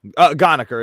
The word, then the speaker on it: Ghanekar: Ghanekar. It rhymes with moniker.